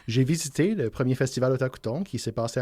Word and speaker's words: Otakuton: Alors, j'accueille présentement, on va accueillir Stéphane Latour du festival Otakuton. Est-ce que je le dis comme il faut? Oui, vous le dites bien comme il faut. Okay. Otakuton, c'est très facile à prononcer en français.